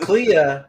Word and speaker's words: Clea: joke yeah yeah exactly C Clea is two syllables clear is one you can't just say